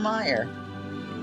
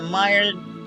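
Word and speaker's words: Meijer: this fidget spinner from Meyer I bought this fidget spinner from the Meyer grocery store down the street for me Meyer is spelled me J R and that has been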